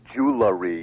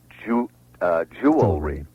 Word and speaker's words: jewelry: For example, you said one earlier in the show, realtor is wrong, just as jewelry is wrong and nuclear is wrong. Right. All those are beastly mispronunciations. They should be realtor, nuclear, jewelry.